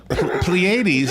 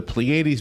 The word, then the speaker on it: Pleiades: Pleiades is spelled, I might be saying it wrong, Pleiades.